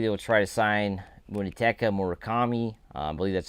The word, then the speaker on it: Munetaka Murakami: I believe they will try to sign Munetaka Murakami. I believe that's how you pronounce his name.